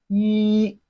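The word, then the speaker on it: 一: sound Lane in linguistic one in Chinese is pronounced as he repeat after me he just like what you want to say if he it has a flat tone of Chinese language two in Chinese is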